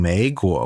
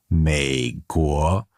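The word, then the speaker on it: 美国: So instead of saying third tone, second tone, I was actually saying second tone, third tone. So I was saying 美国 when I should be saying 美国, third tone, second tone.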